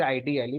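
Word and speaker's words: IDLE: full form में और इसके दो penduation है दोनों सही हैं आप इसे आइडियल प्रोनाउंस कर सकते हैं आप इसे आईडी अली प्रोनाउंस कर सकते हैं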